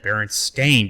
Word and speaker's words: Berenstain: Berenstein it was said Baron stain because that's how it would have been pronounced yeah because the a doesn't justify a Steen sounding because it doesn't make